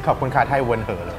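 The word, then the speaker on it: ขอบคุณค่ะ: You made a pronunciation mistake. It should be kob kun ka.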